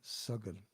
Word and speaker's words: Sagan: Different than Sagan. Sagan is very short A sounds.